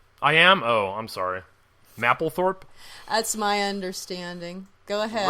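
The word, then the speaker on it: Mapplethorpe: okay so do you you know who Robert Maple Thorp is have you heard of that guy yes and you're saying his name wrong I am oh I'm sorry mle Thorp that's my understanding go ahead Robert so number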